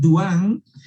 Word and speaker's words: Dehaene: Vamos a analizar el libro de Stanislas Dehaene, así se pronuncia este apellido francés, Dehaene.